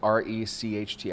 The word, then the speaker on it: Recht: out rachel recht and i may be mispronouncing the last name it's r-e-c-h-t i'm gonna go with recht um and she's so